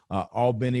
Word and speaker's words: Albany: But and if you ever spend any time in South Georgia, I've spent a lot of time from Albany, which I probably mispronounced, to Valdosta, pretty close.